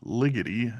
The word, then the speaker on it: Ligety: I do believe it is pronounced Ted Ligety.